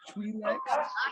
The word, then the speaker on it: Twi'lek: They're pronounced Twi'leks.